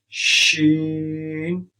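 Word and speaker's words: شين: When you sing sheen, so your middle part of your tongue you have to touch with your palate, with your upper palate, and your first part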